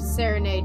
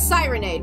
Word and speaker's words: Sirenade: Have Serenade now. Read that, please. Oh wait, hold on. It's Sirenade, by the way.